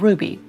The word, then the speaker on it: RWBY: me it was called Ruby. I saw how it was spelled on the episode and I was confused as to why the W made a U sound.